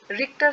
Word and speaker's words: Richter: And earthquake is measured with रिक्टर scale.